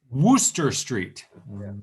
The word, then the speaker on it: Wooster: but i live now we have worcester massachusetts but i guess it is worcester street it is it it's spelt with two o's so yeah it is definitely a woo uh but i live